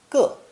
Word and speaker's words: 个: It's pronounced fourth tone, 个, and is another phono-semantic compound character.